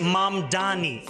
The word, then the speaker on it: Mamdani: The name is Mom Dani.